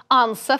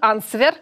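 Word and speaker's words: answer: может произнести правильно или слово анса в котором все произносят WD ты можешь уже 150 раз сказать все равно скажут ансфер Вот какой-нибудь как оно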